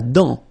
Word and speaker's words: dent: La dent, final T not pronounced.